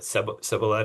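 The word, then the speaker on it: Cebolleta: And your most advanced project there is Cibiletta. Did I pronounce that right? Yep. It's definitely pronounced a few different ways from a few different people. Uh but sealleta is very good.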